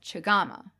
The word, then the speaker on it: chagama: And it is shorter in the name of the tea kettle, chagama.